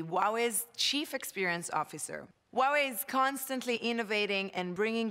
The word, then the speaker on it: Huawei: what we have in store and remember it's pronounced Huawei ANCA dot teach you how do you how